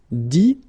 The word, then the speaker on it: dit: Dire, ire as well, will give you dit, same thing here, it, but then you pronounce it i, okay.